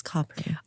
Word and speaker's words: Capri: option but I think Capri would be and we did ask how to say it and they said it's copper although they don't